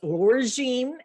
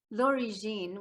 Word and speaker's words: L'Origine: which is an award-winning novel was which is origin and please forgive my hillbilly accent i know